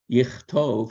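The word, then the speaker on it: יכתוב: have been katav, but it's pronounced, the initial K is pronounced K in katav, but in another form of the same verb, yichtov, he will write, that K becomes an X.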